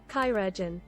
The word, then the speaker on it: Chirurgeon: how do you pronounce Chirurgeon? Chirurgeon.